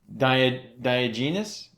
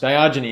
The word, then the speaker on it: Diogenes: at the age of 73 oh i'm gonna mispronounce this and this is a real person so dia diagenius isn't he the guy who's diagnosed diogenes diogenes diogenes gives two different accounts of a